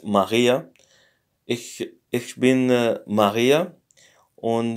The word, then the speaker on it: Maria: So it's not Maria, but it's Maria.